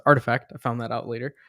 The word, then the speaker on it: RTFKT: was artifact um so artifact rtfkt is pronounced artifact i found that out